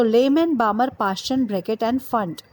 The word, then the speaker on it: Pfund: So Lyman, Balmer, Paschen, Brackett and Pfund. P Pfund. So P is silent over here, so we call it Pfund only.